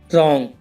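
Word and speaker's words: wrong: For example, रॉन्ग, right और writer. इन सब में आर से पहले डब्ल्यू आया हुआ है तो डब्ल्यू साइलेंट है इसमें।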